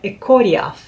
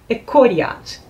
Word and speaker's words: Echoriath: O nome é Ekoriath, ou Ekoriath, que em Sindarin quer dizer montanhas circundantes.